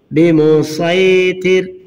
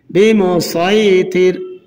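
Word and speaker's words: بمصيطر: পেশ মুল হুমুল মুসাইতিরুনা বিমুসাইতির এখানে সদ উচ্চারণ হবে সিন বাদ যাবে বিমুসাইতির এখানেও সিন উচ্চারণ হবে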